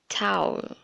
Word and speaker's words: towel: So actually there are two kinds of pronunciation for this particular word, the British and the American, but you can pronounce it either way, whether you want to do it the British way or the American way, but in fact it should be towel. Just lower your voice towards the end.